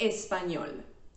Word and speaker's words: español: If you think the correct answer is numero t, you are correct. The stress syllable is at the end.